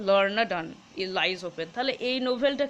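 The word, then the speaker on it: Lorna Doone: আচ্ছা বেশ, এই জায়গাটা দেখো একটু, এল ও নয়, এটা এল এ হবে, ওকে, লার্না ডন বা ডান এরকম উচ্চারণ, যেমন জন ডান সেই রকমই।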